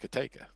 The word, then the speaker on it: Kateka: Kateka, Spell like Catico, but it's pronounced Kateka.